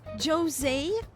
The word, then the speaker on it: Jose: Jose, that's how you pronounce his name. Jose.